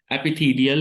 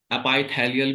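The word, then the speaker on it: epithelial: कई बार प्रोनाउंसिएशन इसका अपाइथेलियल भी बोला जाएगा, कोई कोई बोल देता है ना, जैसे हमारे टीचर अपाइथीलियल बोलते थे, तो एपिथीलियल वर्ड देख लीजिए आप जैसा कंफर्टेबल हो, लेकिन दोनों ही प्रोनाउंसिएशन ठीक है।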